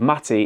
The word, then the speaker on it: Matty: One of the unfortunate things about being called Matty is that it rhymes with fatty.